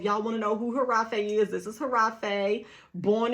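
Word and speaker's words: Hiraffe: a f f e it's pronounced that way but it's spelled regular giraffe way all right so if y'all want to know who harafee is this is harafe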